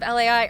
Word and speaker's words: Lai: Um, it's said that the Italian version is pronounced a little bit like the word lie, except that you kind of put this a aish sound in there and you kind of stretch the end.